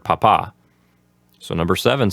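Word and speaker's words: papá: Papa which means dad notice how the accent is on the second syllable of the word Papa so number seven says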